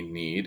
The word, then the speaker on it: knead: Need and need, N-E-E-D, need is it's like saying I need to call somebody. And need, K-N-E-A-D, has a silent K at the beginning, so don't be confused with that.